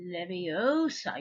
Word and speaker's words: Leviosa: to say it uh you have to say Leviosa you can't say Olivia saw because if you you don't mangle the Latin properly it doesn't work and we and we